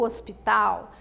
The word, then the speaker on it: hospital: ela é igualzinho português porém eu falo hosp tal né o H em inglês tem um sonzinho Dr se escreve da maneira na mesma maneira que Portuguesa que lugar é esse é o hospital o que que você